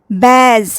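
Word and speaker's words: badge: Example, बैज, यहाँ D silent है।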